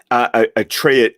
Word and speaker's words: Atreides: Atreides. Okay, Atreides. Here's the thing. Atreides. and anyone who wants to fight us on pronunciations, we found this wonderful YouTube channel called Secrets of Dune.